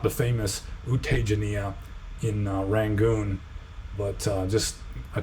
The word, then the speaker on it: Tejaniya: is not the famous U Tejaniya in Rangoon, but just a Taungpulu, disciple of Taungpulu Sayadaw. U Tejaniya, because J is pronounced like a Z in Burmese.